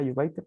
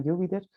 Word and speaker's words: Jupyter: Yo erróneamente antes los pronunciaba Jupyter, pero pareciera que es Jupyter, ¿no?